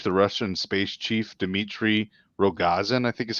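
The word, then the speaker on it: Rogozin: the space chief the russian space chief dimitri rogazan i think is how you say his name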